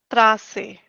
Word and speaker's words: Straße: Pus or the street is Straße. Okay. Trase, okay, A to Z, and these sounds gives a different way of pronunciation.